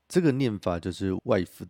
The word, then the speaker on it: Waifu: This is pronounced "Waifu," the Japanese way of saying "Wife."